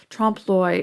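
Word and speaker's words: trompe-l'œil: specific term um and it is a french term that means to fool the eye it's spelled trump loy tromploy and trump uh the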